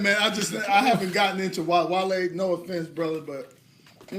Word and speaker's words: Wale: Not whale, not wall, but Wale.